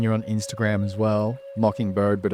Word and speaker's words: MKNBRD: And then you're on Instagram as well, Mockingbird, but it's spelled MKNBRD, right? You got it, Yeah, man. yeah, nice. Yeah, Okay. Mockingbird, MKNBRD.